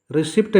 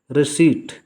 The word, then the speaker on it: receipt: इस बात पर ध्यान देंगे कि यहाँ पे पी साइलेंट है, रिसिप्ट बिल्कुल नहीं पढ़ेंगे, आप इसको पढ़ेंगे रिसीट।